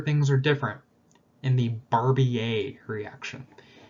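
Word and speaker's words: Barbier: are different in the barbie a reaction it's french so you don't pronounce the r okay so it's stable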